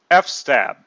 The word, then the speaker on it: fstab: it's pronounced FS tab I call it f-stab because that's how it's spelled f stab let's use